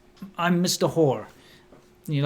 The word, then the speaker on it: Hoare: I used to work with a guy whose surname it's spelled Hoare, but it's pronounced Hor.